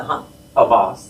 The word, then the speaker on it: Hamas: But how you pronounce it? Hamas.